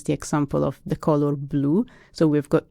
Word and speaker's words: blu: Yeah, I always give my students the example of the color blue. So we've got 2 words for blue in Italian. Blue, same pronunciation, for dark blue.